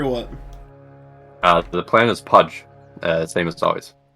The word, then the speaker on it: Pudge: The plan is Pudge, same as always. not roster change, not same players, just Budge.